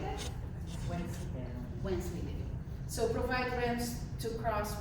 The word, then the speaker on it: Wensleydale: Wensleydale.